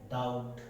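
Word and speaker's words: doubt: Silent हो जाता है। ये वर्ड देखिए, डाउट, डेट, है ना, डेटर।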